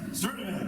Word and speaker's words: Sturtevant: Deborah Sturtevant, I have a hard time pronouncing her last name. Sturtevant. What is it? Sturtevant.